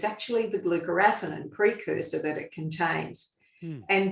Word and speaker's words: glucoraphanin: The precursor, glucoraphanin, am I pronouncing that correctly?